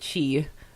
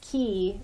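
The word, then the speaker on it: qi: CH Kong and and I think he calls it Chi so yeah oh yeah yeah I think it's pronounced either way either yeah either either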